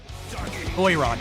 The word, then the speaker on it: Doiran: Doyran, okay, that's how you say it.